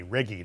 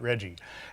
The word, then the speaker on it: Reggie: old adventurer he was Reggie Bowles hard G Ricky not Reggie and he jumped on